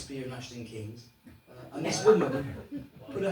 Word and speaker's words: Keynes: She said, excuse me young man, she said, I know it's spelt Keynes, K-E-Y-N-E-S, but here in Cirencester we prefer to pronounce it Keynes.